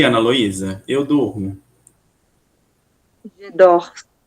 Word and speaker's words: dors: Je dors. Je Je dors. Vai até o R, exatamente.